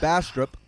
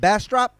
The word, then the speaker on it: Bastrop: and i were in dallas you were in bastrop um yes and trey you are hard to